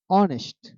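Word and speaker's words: honest: অক্ষরের উচ্চারণ হয়ে থাকে সেক্ষেত্রে এন বসে যেমন অনেস্ট এখানে এইচ এর উচ্চারণ হয় নাই অর এখানে এইচ উচ্চারণ হয়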